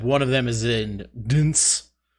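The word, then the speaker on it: DNCE: I have little to no knowledge of Jonas Brothers, except one of them is in Dance. I think it's just pronounced dance, but it's spelled Dance.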